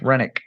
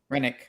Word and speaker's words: Henrik: Oh, Henrik. Okay, yeah, Henrik. What's up, boss? Air 2S Army out. Rennick. Yep. Rennick. Yeah, the H is silent.